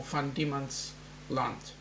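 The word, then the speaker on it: Van Diemen's Land: um Tasmania was called van Demon's land or femon land that is the um the Dutch way of pronouncing it so um and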